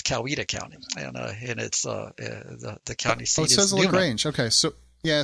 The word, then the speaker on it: Coweta: a county called Coweta the local ones pronounce that Coweta now the people looking at that would probably said Cal weather but if you live there it's Coweta County range okay so